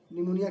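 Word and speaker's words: pneumonia: निमोनिया की spelling P से शुरू होती है।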